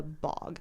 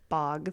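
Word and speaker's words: Bogge: up being called The Bog which is spelled b o g g e but I'm pretty sure it's pronounced bog even though it's not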